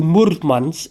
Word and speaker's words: Murmansk: And so now I am ready to go to Murmansk. This is how you pronounce it, apparently.